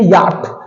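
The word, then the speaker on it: yacht: आपके सामने मैंने एक वर्ड लिखा, याक। आप इसे क्या पढ़ते हैं? हम पढ़ते हैं याट। तो इसमें आपका CH जो होता है वो साइलेंट होता है।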